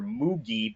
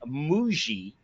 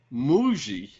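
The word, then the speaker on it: Mougey: Moogie last week, Dan, the new general manager, Moogie, but it is really Muji.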